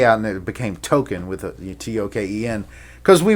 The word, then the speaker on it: Talkin: But they pronounced it Token, Tokken.